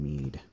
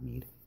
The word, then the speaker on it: Mid: Or Cid, not Mead. Oh my god. Yeah, it is. I think it is pronounced Mead and not Mid, because that's the way it was pronounced in Legend of the Crystals, so.